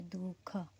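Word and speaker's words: दुःख: और इसका अगर हम एग्जाम्पल देखें तो जैसे दुख, ऐसे हम पढ़ेंगे दुख, मतलब दू के बाद विसर्ग आ रहा है, फिर ख आ रहा है, दुख, ऐसे करके।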